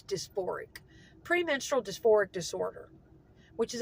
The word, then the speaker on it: dysphoric: I always pronounce it wrong. I always say dysmorphic. It's dysphoric.